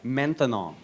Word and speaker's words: maintenant: That's right, maintenant. Maintenant. 3 syllables.